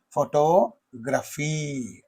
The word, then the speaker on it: photography: Photography. Okay. graphy. So here also in this photography and photographer, in these two words, the second syllable receives the primary stress, whereas in the photographer, the first syllable receives the primary stress.